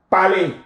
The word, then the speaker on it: parlez: Vous parlez. Easy is always pronounced A in French.